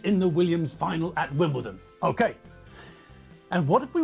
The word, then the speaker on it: Wimbledon: his JCB to Wimbledon that's another than Wimbledon not win bled on boots anyway Michael J